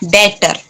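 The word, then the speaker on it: debtor: डेटर। B silent होता है, डेटर।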